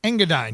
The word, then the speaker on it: Engadine: Engadine, yep.